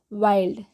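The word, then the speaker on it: wild: mind next है वाइल्ड डब्लू आई एल डी क्या पढ़ेंगे इसको वाइल्ड और है बी आई एनडी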